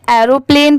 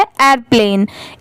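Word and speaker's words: airplane: ये है एयरप्लेन, बहुत सारे लोग इसे एरोप्लेन पढ़ते हैं बट इसकी प्रोनाउंसिएशन ये क्या है एयरप्लेन, AIR एयर होता है, PLANE प्लेन होता है।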